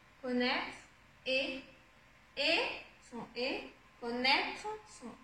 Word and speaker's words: connaître: Et connaître, on l'a vu tout à l'heure, c'est le son et, connaître, et, son et, connaître,